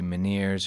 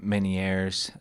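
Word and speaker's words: Ménière: our list is uh maners disease I looked up uh a few different pronunciations with this um it could be miners or manier um or or man which is the most French sounding so I'm going to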